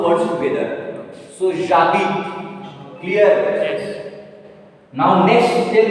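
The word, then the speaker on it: j'habite: how you are going to pronounce now? Jabit.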